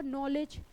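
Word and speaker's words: knowledge: जैसे आपने देखा होगा नॉलेज। अब नॉलेज में क्या है, के जो है साइलेंट है।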